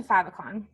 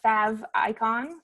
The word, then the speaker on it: favicon: this is where we're gonna let's go into favicon so that's how that's pronounced fav icon favicon this is the little image in the